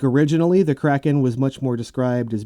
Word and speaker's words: Kraken: plus octopus plus squid equals creakin or Kraken we're gonna fight over this pronunciation I see I'm not fighting over it I I liked saying Kraken not creakin you can say what you want but I know what I'm sticking with I'm sticking with Kraken